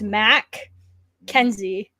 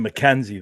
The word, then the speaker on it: MacKenzie: No offense to anybody that spells Mackenzie that way, but mine's Mac Kenzie. MAC, like the Big Mac from McDonald's. Kenzie. But you pronounce him Mackenzie, though. Yeah. Kenzie. Mackenzie. Yeah.